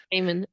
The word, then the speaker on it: Gaiman: Gaiman.